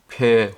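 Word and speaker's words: פ: 알파벳 17 번째 순서인 폐 혹은 페이에 대해서 공부해 보도록 하겠습니다 앞에 보이는 글자가 폐 혹은 페이로 발음하는데 숫자 값은 80이 되겠습니다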